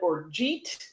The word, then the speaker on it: orgeat: But orgeat, in case you don't know, you'll sometimes also hear people call it orgeat or other pronunciations, but it's basically a French.